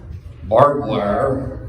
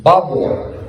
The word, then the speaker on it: barbwire: action a little bit they figured out that barbwire was not the correct pronunciation in Texas it's Bob War repeat after me this is you're going to